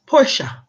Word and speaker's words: Porsche: serious it's the Porsche but Janet it is pronounced Porsche it's Italian to the Porsche okay so the